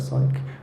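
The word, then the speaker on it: Cyc: There's things like Psych, you pronounce that Psych, WordNet and Freebase, which have like millions of facts, or WordNet has 200,000 plus words, Freebase has 360 million facts.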